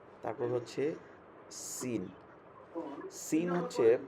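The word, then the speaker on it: سين: তারপর হচ্ছে scene, scene হচ্ছে, সিনের উচ্চারণ যেমন সিন, পাখির আওয়াজটা যেরকম হয় চিকন করে, চড়ুই পাখির আওয়াজের মতো এরকম, সিন, সিন, সিন।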